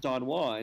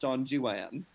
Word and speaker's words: Don Juan: know that within the it is not pronounced don juan because the rhymes don't work if you pronounce it that way it's pronounced john juan which from lord byron